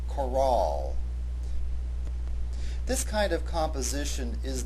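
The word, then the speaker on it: Chorale: r a l it has an e at its end therefore the proper pronunciation of this word has the accent on the second syllable Coral this kind of composition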